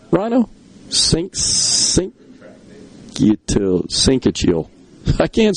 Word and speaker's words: syncytial: Syncytial.